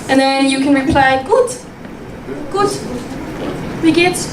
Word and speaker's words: gut: And then you can reply, gut. Gut. Wie geht's? Gut, like good, right? Very similar pronunciation.